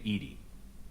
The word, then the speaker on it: EDI: ajar hey her name why are you named ed ed is the phonetic pronunciation of Ed I that is an acronym